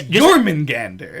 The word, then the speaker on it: Jormungandr: You have to hit all 4 syllables hard. And if you tumble down on the Gander, then you're not, like... It's just not the same.